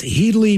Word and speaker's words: Headley: Please have you wish my partner in life and crime, Headley, pronounced Heedley, pecked me in the eye.